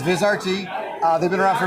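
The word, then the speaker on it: Vizrt: If you're not the only one that pronounces it, Vizert. Um, so it's okay. But it's Viz RT.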